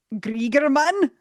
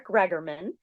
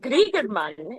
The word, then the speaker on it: Gregerman: Is it Gregerman? Oh, that was beautiful. Sure. No, it's Gregerman. But Gregerman is way cooler and kind of similar to how the Swedes try to pronounce it.